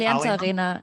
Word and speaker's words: Allianz Arena: Allianz Arena, and am I pronouncing that correct? Right, Allianz Arena, yeah.